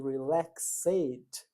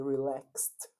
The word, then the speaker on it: relaxed: Esse ed de regra ele não é pronunciado, né?